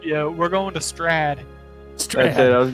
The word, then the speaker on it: Strahd: How do you say that, Whip? Strahd. Yeah. Gotta roll that R a little bit. Yeah. Episode 1, Curse of Strahd.